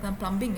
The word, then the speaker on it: plumbing: in english all right it's a slight silent b plumbing yeah it's plumbing all right just like